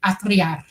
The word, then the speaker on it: atriar: It would be atriar, like that. You got to roll your R.